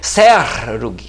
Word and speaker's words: Serug: no hebraico, aqui ó, o Shin com o ponto na esquerda é som de S mesmo, então seria Serug, que a sílaba tônica ou a consoante tônica tá no R, né?